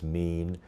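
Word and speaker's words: מין: AFTER THEIR KIND, IT'S THE HEBREW WORD WE PRONOUNCE "MÎN," THAT WE WOULD SAY IS MORE AT THE FAMILY LEVEL OF CLASSIFICATION.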